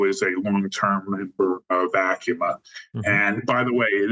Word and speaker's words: ACUMA: It was owned by, among other credit unions, owned by Affinity Federal Credit Union, who I know is a long-term member of ACUMA.